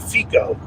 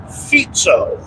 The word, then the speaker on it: Fico: name many times and I always pronounced it FICO and I finally broke down and did some research and it sounds more like feto I'm sure I'm still